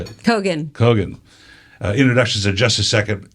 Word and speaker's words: Kogan: I was going to say Kogan. How do you say it? Kogan.